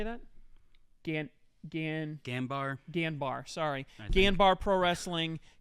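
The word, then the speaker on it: Ganbare: Ganbar.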